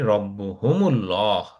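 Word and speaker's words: رَبُّهُمُ اللّٰه: কেন আনসার বলতে পারি রব্বুহুমুল্লাহ। ঠিক আছে, আমরা এখানে কিন্তু উচ্চারণের সুবিধার জন্য এই যে হুমের পরে একটু একটা দম্মা লাগাই দিছি, কারণ কি দেখেন রব্বু হুমুল্লাহ হয়ে গেছে, রব্বু হুল্লাহ।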